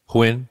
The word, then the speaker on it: Huyen: Huyen. Huyen. Like win, but with the H.